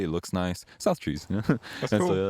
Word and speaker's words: South Trees: And I was like, it's 2 syllables, it's pretty easy to say, it looks nice. South Trees.